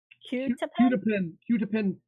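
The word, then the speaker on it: quetiapine: How do you pronounce it? It's Qutipin fumarate.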